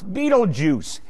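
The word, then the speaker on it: Betelgeuse: hunter shoulder stars and his name is betelgus which most people pronounce beetlejuice so now you have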